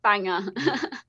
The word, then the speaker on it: Bangor: uh americans watching here banger is the name of the town it's about bangor but like yes it's pronounced banger um but okay so